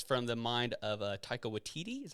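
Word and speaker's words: Taika Waititi: love it it's from the mind of uh taika watiti is how you say his name taika he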